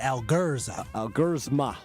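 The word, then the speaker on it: Elgersma: Speaking of cut down ramifications, Taylor Algersma, Sean Clifford both cut, the backup quarterbacks. That's how you say it, Algersma.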